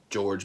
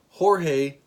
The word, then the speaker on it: Jorge: a lot of people I hear calling him George Mass at all and that is a wrong George is spelled GE o rg8 Jorge like I said is Jo r GE and